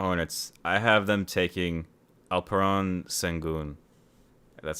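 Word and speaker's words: Alperen Şengün: I have them taking Alperon Sengun. That's how Same. you say it. Mm. I gotta pronounce it right.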